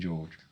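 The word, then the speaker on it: Giourgis: But yeah, but it's not George with an S. It's can't never No one knows spell. Is that like a Greek Greek thing? Well, it's a Greek surname, Georges, but it's spelled G I O U R G I S. Like you think Georgees, that's how it's spelled Georgees.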